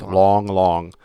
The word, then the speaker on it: Lang Lang: The world's greatest living pianist, Lang Lang, is coming up, though. Lang, Lang Lang, pronounced long.